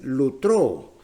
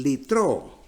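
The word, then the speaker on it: λυτρόω: Y la tercera palabra es lutró. Algunos pronuncian litró.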